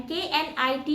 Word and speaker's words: knit: अब हम के से रिलेटेड वो वर्ब्स देखेंगे जिसमें के साइलेंट है. KNOW नो मीन्स जानना, KNEAD need means गूंदना एंड KNIT knit means बुनना.